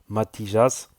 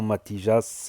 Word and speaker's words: Matijas: Mais il y a la preuve de Jonathan Matijas, je dis Matijas parce que je prononce en espagnol, Matijas, je vais vous en parler.